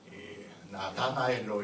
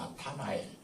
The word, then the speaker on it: 나타나엘: 나다나엘도 다가 아니고 사실은 발음은 헬라 발음으로 보면 타가 맞습니다. 나타나엘.